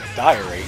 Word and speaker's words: diary: don't need anymore offensive dairy diary even i know i think i always read it as dairy as well so this is me learning that i said it wrong the whole time this is like gower